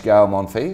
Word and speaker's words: Gael Monfils: You manage Gael Monfils, is that how you pronounce it?